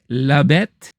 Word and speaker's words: La Bête: And then I went back to check out The Beast, or as it's pronounced in French, La Bête.